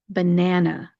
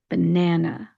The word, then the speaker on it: banana: You want to make sure you are not stressing that last syllable, and because it is not stressed, you need to turn it into a schwa sound. So we're going to pronounce this banana, banana.